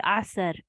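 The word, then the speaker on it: عصر: I hear people say asr, but there's no fatha here on top of the sad. There's no mushaddad sad. So it's not like that. You have to make it one sound. Asr, one syllable.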